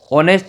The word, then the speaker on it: honest: अगर यहाँ पे ये HOUR आता, ठीक है, आवर हो, मान लो ऑनेस्ट हो, HONEST ऑनेस्ट हो, HONOUR ऑनर हो, तो इन ये एच में साइलेंट रहता है और उसके आगे